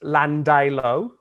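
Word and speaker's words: Llandilo: they can't pronounce so in sydney there is a suburb called and it's pronounced landai low do you know land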